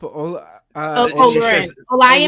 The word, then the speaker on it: Olurin: how do you pronounce Right. your last name? I'm sorry, I don't want to mess it up. Olurin.